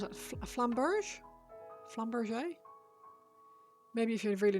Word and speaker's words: flamberge: Last E is silent, so flamberge. Flamberg?